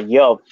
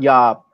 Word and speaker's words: job: Or Job, not yob.